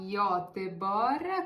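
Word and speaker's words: Göteborg: Stoccolma e a Goteborg che ancora non ho capito come si pronuncia ybor così ci avete detto nei commenti Vabbè Ok ok Scritto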